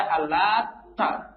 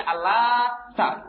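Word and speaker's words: اللّات: Di sini dibacanya Al-Lata. Ya. Di sini ditasydid. Ta-nya ditasydid. Ngerti tasydid kan ya? Di sini belajar Quran kan tajwid ya? Ngerti tasydid ya? Ngerti ya? Jadi ta di sini ada tasydidnya. Tahu tasydid ya? Jadi dibacanya Al-Lata begitu. Al-Lata seperti waladhdallin.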